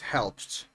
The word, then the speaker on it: helped: In all of these words, the ed is pronounced with a t sound.